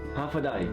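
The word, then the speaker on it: Håfa adai: Hafadai. Hafadai.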